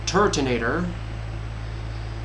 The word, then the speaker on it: Turtonator: released that I now officially know how to pronounce, known as Turtonator.